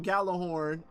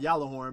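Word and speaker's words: Gjallarhorn: People's like, "You cannot join unless you have Galah Horn," pronounced Yalah Horn.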